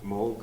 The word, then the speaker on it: Moog: that move you know Mo I always you know what I need actually did pronounce it it's like a a Dutch name which I found in Holland they pronounced Mo not